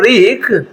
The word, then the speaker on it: wreak: rude and reek REEK reek and WREAK reek. ಇಲ್ಲಿ W silent ಆಗ್ತದೆ, ಉಚ್ಚಾರಣೆ ಆಗೋದಿಲ್ಲ.